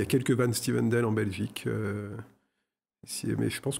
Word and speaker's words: Van Styvendael: On continue avec Cédric Van Stuyvendal. J'espère que je prononce correctement. C'est plus simple, c'est Van Stuyvendal.